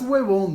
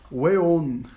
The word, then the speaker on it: weón: No es huevón, ¿no? Weón. Weón, pues.